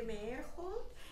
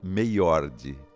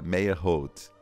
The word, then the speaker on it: Meyerhold: em Sorocaba, mecenas, e ele pronunciava Meyord. Só depois eu vim a descobrir que Meyord era Meyerhold.